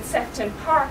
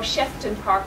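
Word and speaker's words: Sefton Park: while people out in sefon park for example or shefton Park as I thought it was once initially pronounced these tend to be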